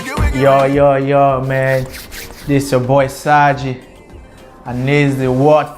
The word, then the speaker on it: Xagi: It's called Xagi, you know what I mean? It means so bravery. You pronounce X as S.